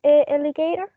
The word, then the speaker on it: alligator: first claudia modales um did you find the stress in the word alligator are you there cloudy and you speak cloudy um yes the stress is at the beginning in the first syllable so in the first